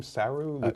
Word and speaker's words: Saru: so um how do you say his name saru suu suu I I'm and Lieutenant suu is